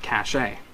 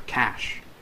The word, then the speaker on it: cache: or reload of your font cachet or cash for those who want me to pronounce properly this is what